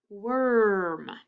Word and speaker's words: worm: In the word worm, it's spelt with OR, but what does it sound like? It sounds like worm.